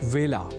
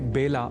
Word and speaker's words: वेला: अतः ए अक्षर से जुड़े वेला इस शब्द के उच्चारण में भी विशेष ध्यान रखा जाना चाहिए। अर्थात इसे बेला नहीं बोला जाना चाहिए। अब बढ़ते हैं आगे।